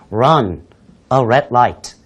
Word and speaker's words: run a red light: a red light 예 R 발음이 두 개 L 발음이 하나 분명히 살려주셔야 되겠는데요 run a red light 예 즉 빨간 불에